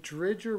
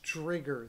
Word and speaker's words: Dridger: And then I found out that Dridger was in net for Washington, for Florida. And I like Dridger. Why did I just call him Dridger? It's Drigger.